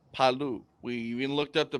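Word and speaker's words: Palau: chance's brother we looked this up and it's palu we looked up the pronunciation to it um very cool next next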